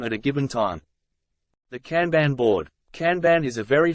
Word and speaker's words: kanban: individual team and even organizational levels it is pronounced kanban this term is of Japanese origin implying visual